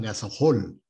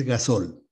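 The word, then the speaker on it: gasohol: En algún programa, en algún noticiero hace poco, veía que le llamaban gasojol, pero no se pronuncia así gasojol, ¿no? Es gasol.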